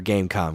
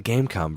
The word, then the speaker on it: Game.com: This thing, I'm pretty sure it's pronounced Gamecom, because I feel like that's how they said it in the commercials, which is silly because it's not written that way.